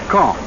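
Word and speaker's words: Caen: of gravity in these reported military operations is kong i'll spell that c-a-e-n the big city at the base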